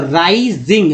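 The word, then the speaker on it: rising: दोस्तों चलिए अब देखिए, एस को यहाँ पर स नहीं बोल रहे, इसको ज बोल रहे हैं। जैसे मैंने बताया था कि एस को स ज बोलते, ज का बोलते तो यहाँ ज उच्चारण हो रहा है वर्ड मीनिंग में। आई का उच्चारण आई के रूप में हो रहा है, तो राइजिंग, इंग को इंग बोलते हैं, इंग पार्ट राइजिंग।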